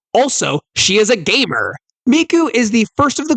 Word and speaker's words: Miku: name Miku you weeb miku's name is the word for three but using a a different pronunciation system to the girls previously mentioned icha and Nino use one and two from the Oni way of pronunciation the Oni way of pronouncing three is s but miku's name uses the kunyomi pronunciation which is me the second part of